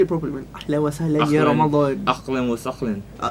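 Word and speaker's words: أهلا وسهلا: Ahlan wa sahlan ya Ramadan.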